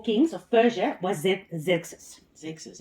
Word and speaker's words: Xerxes: Xerxes, how do you pronounce it?